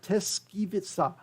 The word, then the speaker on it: Tyszkiewicza: to say it again to get it right, Tyszkiewicza, that's it. You need to pronounce it, and I have to repeat it again and again to get it right.